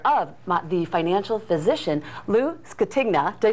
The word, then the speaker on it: Scatigna: We have joining us this morning is a financial expert and the author of The Financial Physician, Lou Scatigna.